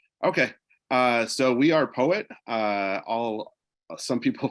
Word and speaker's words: PoEWit: everything looks good okay uh so we are poet uh all uh some people pronounce it Poe whip but our official name is poet uh all our devices are powered by Poe